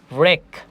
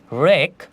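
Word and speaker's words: wreck: এরপরে যদি আমরা দেখি রেক রেক এখানেও ডব্লিউ এর উচ্চারণ করছি না আমরা শুধু আর এর উচ্চারণ করছি রেক যার অর্থ হচ্ছে ধ্বংস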